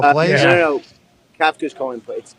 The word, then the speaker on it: Kafka: Kafka's calling plays. It's actually pronounced Kafka, and he's calling plays.